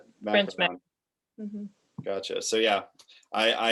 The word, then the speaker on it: macaron: blog on so i always thought it was pronounced macaroon yeah yeah so you said it's macaron macaron gotcha so yeah i i am consistently learning